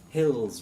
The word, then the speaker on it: Hills: Hills with a Z.